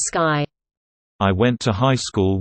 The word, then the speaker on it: Stuvsy: Stuvsy, pronounced as Sky.